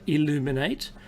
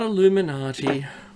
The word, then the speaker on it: Illuminate: went to a conference it was called illuminate not Illuminati some people have mispronounced it it's illuminate and it was all about